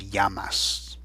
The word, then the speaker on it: llamas: loud if you know, what is the y sound when I say como te llamas? What is that y sound at the beginning of llamas? And the person who just said 2 L's is right.